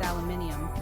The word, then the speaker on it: aluminium: But in British English, it's aluminium, with an extra I in there.